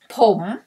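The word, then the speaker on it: ผม: one for the man you may say pom pom pom is pronoun for myself man poem not not the word poem like hear the pronunciation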